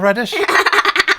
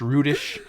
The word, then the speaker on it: Rudish: did i say paul reddish i've been so good the last few weeks since we realized it's pronounced rudish and i went my